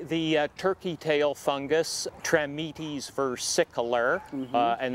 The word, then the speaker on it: versicolor: It's probably the turkey tail fungus, Trametes versicolor, and that second part of that name could also be pronounced versicolor.